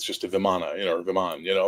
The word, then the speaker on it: Vimana: So much so that if you read the old text, they talk about the Viman, which is spelled Vimana, but it's pronounced Viman, which is basically the flying castles of the gods.